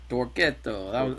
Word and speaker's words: Torquetto: is with a band called Toretto yes uh pronounce it for us correctly one time Toretto Toretto there we go awesome and you're located in